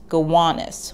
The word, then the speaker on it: Gowanus: the namesake it's pronounced gowanus with an emphasis on the middle syllable gowanus today is synonymous